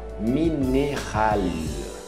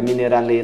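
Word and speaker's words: minéral: O mineral, mineral, é um L mais longo, não é mineralê não, mineral.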